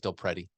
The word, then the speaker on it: DelPrete: share some stats from how do you say it del priety del priet you're saying now you're messing me up it's del pretty del pretty i